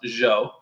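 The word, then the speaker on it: Zhou: today the Jo dynasty I know it looks like Zhao but it's pronounced Jo the Qin Dynasty what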